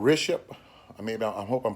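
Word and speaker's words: Rishabh: India the name of the company is called riship I mean I hope I'm pronouncing it right it's spelled r-i-s-h-a-b-h and it's a real big company over in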